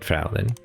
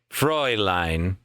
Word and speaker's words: Fräulein: Yes, you did, Fraulein. I'm probably saying that wrong. Hold on. Hold on. Fraulein. Pronunciation. How to say it. This video is a minute long. Fräulein.